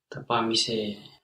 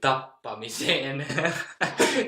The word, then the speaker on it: tapaamiseen: So you have to really pronounce it very longly to make it like 6 E's or something. So just don't worry about pronouncing 3 E's. It's a lot better to pronounce it clearly as long than not. Tapaamiseen. Because then nobody will think that you're saying tappamiseen, like tappamiseen with 2 P's.